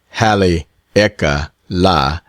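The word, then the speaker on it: Haleakalā: As soon as I get back from Halakala, pronounced Hali Eka la, I will sail for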